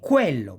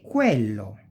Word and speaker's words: quello: qui, quercia, eloquenza e quello, that. E si pronuncia più o meno, we pronounce it more or less like quiver, quiver.